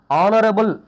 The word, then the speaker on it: honorable: Here our h is silent, that is why we use here yan our. Honest, honest, an honest. Honor, an honor. Honorable, an honorable.